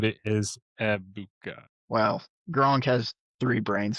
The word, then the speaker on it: Egbuka: Ibuka. The G is silent, Yeah. by the way. It's Ibuka. It's not Egbuka. It's just Abuka.